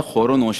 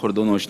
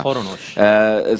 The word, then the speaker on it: خور و نوش: العام فصیح ہے، اشیاء خور و نوش ہے، خرد و نوش نہیں ہوتا۔ خور و نوش۔ سمن، کل بھی ہم